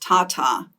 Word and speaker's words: TATA: one promoter sequence is we usually pronounce it just Tata ta ta so thyine